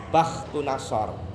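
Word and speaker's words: بختنصر: Kalau yang kafir Namrud sama Bukhtunasor. Ada yang bacanya Bakhtunasor. Bukhtunasor.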